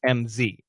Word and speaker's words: Ms.: Ms. is actually a Z. It's MZ. Okay, Ms.